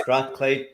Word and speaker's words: Strathclyde: And, yes, Strachan, but the university pronounced Strathclyde perfect.